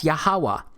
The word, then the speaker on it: Yahuwah: y-h-wh it's pronounced as yahuwah because it turns out that the language was so simple back then that it vocalized each consonant with an ah sound without specifically marking that sound between consonants so this yhwh it's